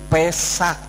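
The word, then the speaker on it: פסח: Nah, ini huruf P, ini huruf Samek, dan ini huruf Ket. Jadi Pesak ya.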